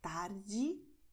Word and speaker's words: tarde: And another general principle for Brazilian Portuguese is that the letter E at the end of the word is pronounced as I. So you're going to say tarde, noite.